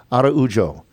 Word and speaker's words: Araujo: Evelyn Araujo is how you say that. Araujo, the senior out of Brazil, was back and at times was brilliant.